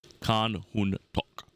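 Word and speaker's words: Khan Hun Topk: Last name Topk. Khan Hun Tok. The P is silent.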